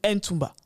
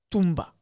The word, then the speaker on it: Ntumba: À la française, on aurait tendance à dire Ntuba ou Ntumba. Non, le N est muet. Tumba.